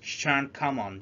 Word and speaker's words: Jeanne Calment: You pronounce it Chan Kamon.